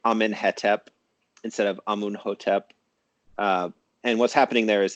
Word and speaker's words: Amenhotep: And then if we use later Coptic, which of course has written vowels, we can reconstruct things and pronounce them as though they were Coptic. So I could say Amunhotep, and that matches the Coptic vowels in those words, but it's anachronistic, and it could be anachronistic by more than 1,000 years, as it is in that case.